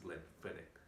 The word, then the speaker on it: Glenfiddich: Glenfiddich itself, a lot of people pronounce it in a different manner, but the correct way of pronouncing it is Glenfiddich with a Fiddick, right?